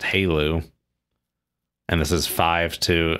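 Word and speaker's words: HALEU: uh abbreviated to hu which is pronounced Halo and this is five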